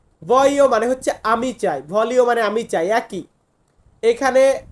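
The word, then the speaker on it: voglio: মানে হচ্ছে আমি চাই ভলিও মানে আমি চাই একই এখানে আরোর জন্য আমরা লর উচ্চারণটা করবো না মানে এল এর উচ্চারণটা আসবে না এখানে হবে আমি চাই ভেনিরে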